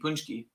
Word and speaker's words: Paczki: it's pronounced Paczki. Punchki.